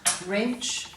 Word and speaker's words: wrench: as you'll see in all these words so let's go through as we read them and you can highlight the silent w and then come back